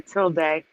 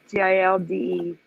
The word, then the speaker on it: tilde: It's called a tilde. TILDE or tilde. Depends on, I guess that's a dialect thing, how you pronounce it.